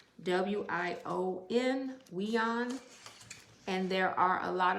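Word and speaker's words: WION: to listen to this channel on youtube it's pronounced w-i-o-n we on and there are a lot of videos that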